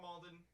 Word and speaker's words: Malden: Carl Malden. Sorry, not Madden.